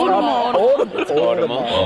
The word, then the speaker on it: Otomo: It's pronounced Otomo.